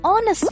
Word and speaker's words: honest: Yes, we also say an hour and an honest man. But why? Because even though these words begin with a consonant, the letter H is silent.